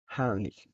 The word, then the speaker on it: Heimlich: La mayoría la conoce como Heimlich, pero es una palabra alemana y se pronuncia como Heimlich.